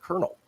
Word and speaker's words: colonel: army you're armed forces why is it spelled c-o-l-o-n-e-l there's no r in there but you pronounce it kernel so i don't know